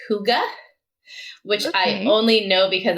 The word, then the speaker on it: hygge: of gotten big in the last few years it's spelled h-y-g-g-e um and it is a danish word that